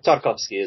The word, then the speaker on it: Tarkovsky: Tarkovsky? Tarkovsky is correct, yeah.